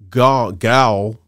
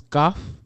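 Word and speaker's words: Gough: kevin gal i can't is it gal how do you pronounce his name gal or i don't know if it's goth goth golf i think it is golf yes uh the the spelling is g-o-u-g-h i believe and uh when he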